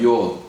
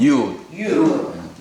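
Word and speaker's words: יוד: 요드 혹은 유드 두 가지로 발음납니다.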